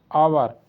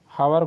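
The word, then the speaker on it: hour: यहां H silent है आवर हवर को आवर पढ़ते हैं एच हमारा साइलेंट है लेकिन इसको घोस्ट घोस्ट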